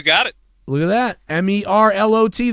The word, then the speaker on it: Merlot: MERLOT. The T is silent.